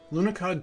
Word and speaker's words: Lunokhod: How do I pronounce that? Lunokhod? Lunokhod 2.